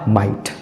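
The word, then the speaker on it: might: है catch cot कॉट उसी तरह से एम आई जीएसटी जीएसटी शब्द के अंत में आया तो इसमें भी जो है जीएच साइलेंट होगा और इसका सही उच्चारण हो जाएगा माइट उसी तरह से एल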